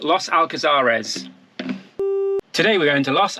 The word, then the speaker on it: Los Alcázares: Los Alcázares. Los Alcázares.